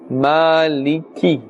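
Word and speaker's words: مالك: Fatah above the mean Maliki the calf would its kisara must be pronounced clearly Maliki Omid beam and we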